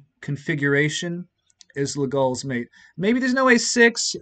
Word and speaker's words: Legall: sure, but this was Legall. If you want to pronounce it legal, I suppose that's okay.